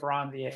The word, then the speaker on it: Ranvier: It helps me spell it easier, but technically, if you want to pronounce it, node of Ranvier.